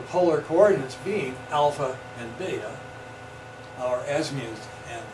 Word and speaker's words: beta: coordinates being alpha and beta, our azimuth and our beta rhymes with theta angle.